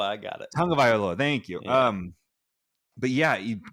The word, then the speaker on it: Tagovailoa: No, I butchered it. Well, crap. Now I can't remember how it goes. Tagovailoa. I got it. Tagovailoa.